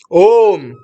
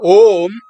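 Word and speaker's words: ॐ: Om, O, M. In the Upanishads, the Omkara, Pranava, Om, is told as A, U, and Ma. Three different sounds, A, U, Ma, joined together to form Om.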